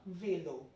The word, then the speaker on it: vélo: Talking about number 8, we have le vélo. Le vélo. Like this accent, aigu gives the pronunciation like A. So le vélo.